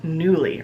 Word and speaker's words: Nuuly: new in existence period it's called newly or at least I think that's how it's pronounced its nu u L Y and I've been noticing